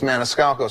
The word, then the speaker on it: Maniscalco: just one name one name no one could pronounce my last name it's Maniscalco so I started off with Sebastian and I